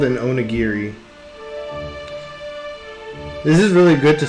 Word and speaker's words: onigiri: But if I collect these onigiris, that's what this is. In Japanese, that's actually how you pronounce this, onigiri.